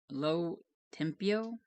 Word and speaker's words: Lo Tempio: Lo Tempio.